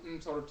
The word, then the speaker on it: Ntoru: in Igbo, the Ntoru, Ntorutu, or Neteru, Netetu, more properly pronounced Ntoru, Ntorutu.